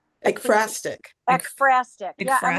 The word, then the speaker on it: ekphrastic: I was Yeah, going to say in the chat, I couldn't spell it. I yeah. like only last year learned the term, is it ekphrasia? Ekphrastic.